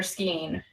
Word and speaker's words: skein: So yeah, is it skein or skein? I hear people, and I've worked with people at my yarn store who pronounce it both ways.